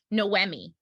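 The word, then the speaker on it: Noémie: So, I hope I'm pronouncing it correctly. Noemi.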